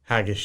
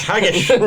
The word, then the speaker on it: haggis: know, I really love haggish and Haggis, cheese. neeps So and haggish. Haggis. Haggish. No, haggis. The proper way to say it.